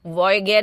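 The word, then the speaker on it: Voyager: Already, जैसे मैंने बताया, वॉयेजर, कैसिनी और क्यूरियोसिटी भी इस तरह के इंजन में चलते हैं। देखो, वॉयेजर को वॉयगेर भी बोलते हैं। नासा, ये सब प्रोनाउंसिएशन के कारण है।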